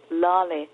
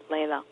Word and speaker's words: Laleh: correction before I forget my name is pronounced lolly not Leila and I know you're